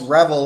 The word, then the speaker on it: REvil: these people call themselves rebel which is spelled r-e-v-i-l it's like devil but with an r they call themselves revel and they say this